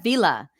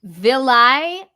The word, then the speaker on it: villi: He said in a video, Matt, we have vila in our stomachs.